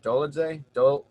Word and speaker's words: Dolidze: Dolidze?